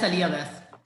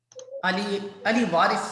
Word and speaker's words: Ali Waris: Yes, Aliyah Wes. Yes, Aliyah Wes, you can ask question because you raise your hand. Ali Waris, sorry, I pronounced your name wrong.